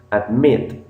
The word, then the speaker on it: admit: Tenemos admit, ok. Ven que la parte donde está MIT, que es la segunda sílaba, es la tónica.